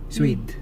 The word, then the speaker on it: Suede: Paano ba i-pronounce to? S-U-E-D. Suede. Ayun.